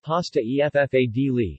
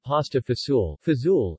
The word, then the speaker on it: pasta e fagioli: Pasta e fagioli, pronounced pasta e ffadli, meaning pasta and beans, is a traditional Italian dish.